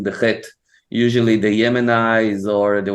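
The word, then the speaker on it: חית: Okay, you just like need to imagine for yourself that you smoke a pack of cigarette last night and you have like this cloth thing in your throat and you need to take it out, so you're doing Chet.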